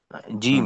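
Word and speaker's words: جيم: আচ্ছা মেহেদি ভাই, জি, জিমের উচ্চারণ জি না হয়, জি না, অর্থাৎ একেবারেই জিহ্বার আগায় চলে না আসে, একটু হ্যাঁ, পিছনে রেখে জি জিম।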